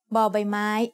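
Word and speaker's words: บ: As the initial consonant of a syllable, Bo Bai Mai makes a sound B, like the B in bucket.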